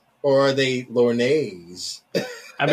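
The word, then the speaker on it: lorgnettes: It's pronounced Lornets.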